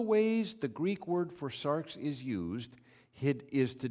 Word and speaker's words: sarx: word for flesh is sarx um it it's it's spelled differently because the greek alphabet has different letters but it's pronounced like that s-a-r-x sarx that is one of